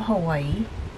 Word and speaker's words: Hawaii: are The Originators of Hawaii Hawaii that's the proper way to say it and um they think